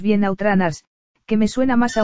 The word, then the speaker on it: Out Runners: de coches de Sega llamado Outrunners, si lo pronunciamos bien Outrunners, que me suena más a una rana que